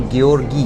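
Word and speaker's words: Georgijs: You Gorgis. Yes. S is very important.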